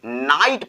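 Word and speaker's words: knight: इसमें के हमारा जो है ये हमारा साइलेंट रहता है। और एग्जांपल जैसे KNIGST, इसको हम पढ़ेंगे नाइट पढ़ेंगे।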